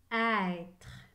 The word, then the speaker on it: être: écrie e accent circonflexe et la lettre e à la fin est muette à être écrivait être